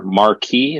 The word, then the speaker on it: Marquis: a website and maybe more Marquee is that how it's pronounced yes it's a publication a